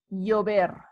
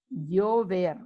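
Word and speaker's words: llover: uvia and rain is yo ver yo ver remember the v is not pronounced any different to the b it sounds like a b so uber again notice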